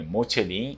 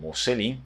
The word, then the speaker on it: Mocellin: Então esse aqui é o nosso sobrenome Mocelin ou Mocelin, as duas pronúncias estão corretas.